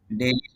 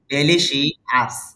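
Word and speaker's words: delicious: যে উচ্চারণটা এটা কি হবে দেখি একজনে বলেন ডেলি তার মানে আপনি উচ্চারণটা শুনছেন তবে ভুল উচ্চারণ আমরা এটা এভাবে পড়ে আসছি এতদিন ডেলিশি আস এভাবে পড়ে আসছি আসলে উচ্চারণ এটা না এখানে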